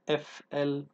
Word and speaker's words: flood: flood يفيض النهر أو فيضان النهر, وقلنا بننطقها زي blood اللي هي دم, blood هي هنا flood, flood.